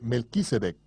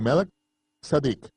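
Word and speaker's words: Malki-Tzedek: sacerdote según el orden de melquisedec o como se debe pronunciar de málaga sadik el rey saudí justicia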